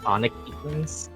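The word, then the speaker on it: conic: ones who are called spelling is c o n i c but they're pronounced sonic they're more It's a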